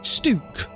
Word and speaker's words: Stuk: to be stook it it looks like it should be stuck but without a c and I don't want